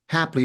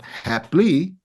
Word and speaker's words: happily: state Perfect 10 syllables happily is pronounced happily not happily so we have another